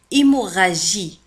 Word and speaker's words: hémorragie: لا نقول hémorragie G I G مع I تنطق J وليس جي. hémorragie hémorragie hémorragie.